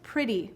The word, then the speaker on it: pretty: usually just one sound the same with pretty we hear that s saying the if sound um this is an exception but um again most of the word is regular so we can we can just talk about yeah that e is saying I that's kind of of unusual or very unusual the word of is